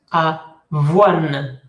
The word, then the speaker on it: avoine: Et coin versus avoine. Avoine. La E no suena, pero dice aquí hay un sonido nasal que no se hace, que desaparece.